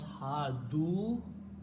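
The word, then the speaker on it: هادوا: So you add a waw here, and because of the waw, you pronounce ha-du, and we write an extra alif, which we don't pronounce.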